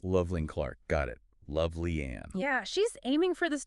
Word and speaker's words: Lovely Ann: And it's pronounced Lovely Ann, it's just so everyone knows. Loveling Clark, got it. Lovely Ann.